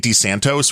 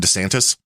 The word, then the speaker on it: DeSantis: the way you because you keep saying dantos rather than DeSantis DeSantis dantos dantas you